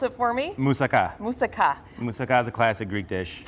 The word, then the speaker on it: moussaka: one being hummus and the other the other pronounce it for me moussaka moosaka is a classic greek dish okay um that